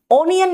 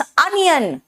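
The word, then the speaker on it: onion: Sound है ओ mode ओनियन नहीं होता है। इट्स अनियन अ कॉट O good उ गुड एंड मूव मूव नहीं है।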